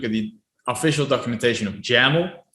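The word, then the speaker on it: YAML: the official documentation of jammel they always like to add the jamal rhymes with camel part behind their name um so i found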